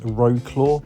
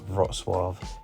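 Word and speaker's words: Wrocław: Again, it's not pronounced Rogclaw, but it's pronounced something like Roswav.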